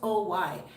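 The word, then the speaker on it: hoy: is today h-o-y but you don't pronounce the h so it's just o-y miami that's it no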